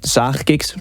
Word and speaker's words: Zaagkicks: Also, good luck with pronouncing the ch, like Zaagkicks, pretty Dutch.